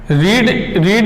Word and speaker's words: read: रीड एक ऐसी verb है जिसकी first, second, third form same रहती है, READ, READ, READ, लेकिन इसका प्रोनाउंसिएशन डिफर हो जाता है। तो हम सेकंड और थर्ड फॉर्म में इसको रेड बोलते हैं।